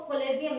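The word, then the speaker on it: collegium: देती हूँ मैं आपको, कोलेजियम, देखिए स्पेलिंग QUIM है बट it will be pronounce as कोलेजियम system.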